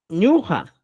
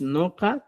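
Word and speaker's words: ñuqa: palabra es raíz ya la palabra correcta para yo es ñuja no es Noa tampoco nua la palabra correcta es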